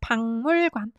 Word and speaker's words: 박물관: These two can become this to produce consonantless assimilation, so they're pronounced 박물관.